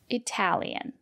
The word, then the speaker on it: Italian: If the letter T is between vowels, or a vowel, R, T, and a vowel, and the syllable is stressed, we pronounce the letter T as T. For example, Italian.